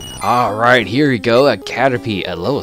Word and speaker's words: Caterpie: Alright, we got ourselves a Caterpie! Or Caterpie, sorry. Whatever. Or it is Caterpie. What is that the IE... The I in the name is actually kind of have this silent thing.